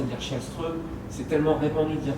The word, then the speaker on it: Kallström: Parce que voilà, à l'époque, le King Kallström, tout le monde disait Kallström, mais en Suède c'est Källström. Et si tu commences à dire Källström, c'est tellement répandu de dire Kallström qu'il y a un côté un peu étrange.